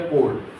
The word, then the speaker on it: chord: को हम क्या बोलेंगे, कोड बोलेंगे। क्या बोलेंगे, कोड। यहाँ पर मैं लिख देता हूँ, इसको हम क्या डेफिनेशन देंगे, कोड, इसको नाम देंगे कोड। स्पेलिंग भी देख लेना, CHORD बोलते हैं कोड।